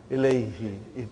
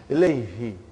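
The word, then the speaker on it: إليه: Now pronounce Ilayhi. You can pronounce with ease, See, that's how beautiful the language is. How logical things are in Arabic language. Ilayhi.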